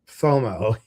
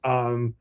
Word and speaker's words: SIBO: It's not FOMO. It's SIBO.